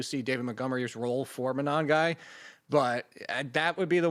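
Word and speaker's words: Monangai: How do you pronounce that guy's last name? Monogamy.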